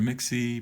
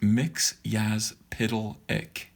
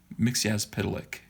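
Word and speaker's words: Mxyzptlk: Now, do you guys know how to pronounce his name? People call him Mr. Mixie. People call him all kinds of things. Yes, this is my cover and my interiors. His name is pronounced Mixyazpidalik. Mixyazpidalik.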